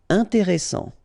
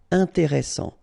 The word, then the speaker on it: intéressant: Intéressant. Double S, same thing here. S, strong, and it opens the pronunciation of your E. Intéressant. Final T not pronounced.